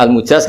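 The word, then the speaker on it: المجاز: Saya tidak perlu nulis sanad lagi karena sanad itu untuk al-mujaz, bacanya al-mujaz karena dari fi'il madhi ajazah.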